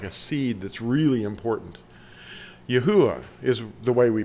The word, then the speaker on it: Yahweh: from us like a seed that's really important Yahweh is the way we pronounce it some use a w but we're